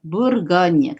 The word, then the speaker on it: Bourgogne: Karena tadi ya, O ketemu U dibaca U biasa. Ya, tapi kalau U saja dibaca U. Tapi kalau ada huruf O ketemu U, dibacanya U biasa seperti U-nya Indonesia. Makanya dibaca Bur.